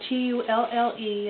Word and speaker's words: tulle: Basically, what you're going to do is get um this is tulle. It's it's t u l l e. It's It's pronounced tulle though, like you're actually using a tulle.